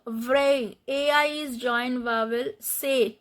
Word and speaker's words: c'est: C'est, t is not pronounced.